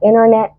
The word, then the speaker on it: internet: طيب كمان التي ما بتتنطقش لو جه قبليها ان، اسمها vanishing T as in internet or international interview.